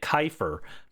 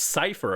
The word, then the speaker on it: Cipher: at those old VODs, I kept calling it Kyifer because I didn't know how to pronounce it. I was like, "What?" Oh, yeah. Teams team Kyer. But no, it's Cipher apparently.